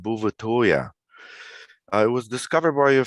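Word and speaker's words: Bouvetøya: norwegian territory and in norwegian the island is pronounced bhuvatoya it was discovered by a french explorer sometime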